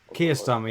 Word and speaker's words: Keir Starmer: Keir Starmer, yeah, that's how you pronounce it.